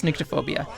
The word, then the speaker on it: Nyctophobia: Alright, Google says it's Nyctophobia.